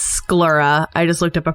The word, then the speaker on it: sclera: Also, it's sclera. I just looked up a pronunciation.